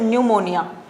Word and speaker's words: pneumonia: P is silent here, you will pronounce it pneumonia.